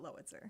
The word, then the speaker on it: Lowitzer: You kind of like, Lowitzer. Lowitzer. So I could get it. It's like, tell me what to compare it to. Like howitzer, Howitzer? spelled like howitzer, but Lowitzer.